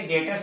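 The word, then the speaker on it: debtors: बहुत लोग इसको ना टी का प्रोनाउंस करते हैं, डेप्टर्स बोलते हैं। तो डेप्टर्स जो गलत जो वो प्रोनाउंस करते हैं वो गलत है। यहाँ पे टी बेटा साइलेंट है, तो डेटर्स बोलेंगे 36,000।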